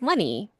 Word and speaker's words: Leni: told you that this woman's name is not Lenny, and you're like, you, I'm you, pretty you, sure you love. It it is. I looks just listened that to a whole way. audiobook about her, and it's Lenny.